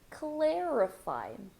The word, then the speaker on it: clarify: blend your words and notice that for clarify even though I have the letter A I'm not going to say CLA I'm going to say say CL this is the E clarify clarify could you please